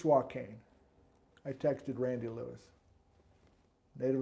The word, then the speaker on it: Swakane: in their life and is it really swat cane or suacan it's soil cane i texted randy lewis